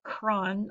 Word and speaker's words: chron: boys and girls is Kron and we've talked about this one a lot this year this should be easy peasy lemon squeezy Kron again pronounced Kron almost like kron4 it's spelled c-- h